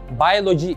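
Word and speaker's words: biology: bir bilgi daha verelim İngilizce'de biyoloji bayoloji şeklinde telaffuz ediliyor Bence birazcık kulağı tırmalayan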